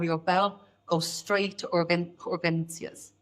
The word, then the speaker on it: urgencias: your bladder or your bowel, go straight to urgencias.